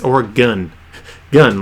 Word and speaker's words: Oregon: get the book sent from Oregon or Oregon as some of you psychos call it on the East Coast it's organ gun like PPU gun say it right please don't kill me